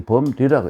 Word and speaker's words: 범려: 이 범려라고 읽어요.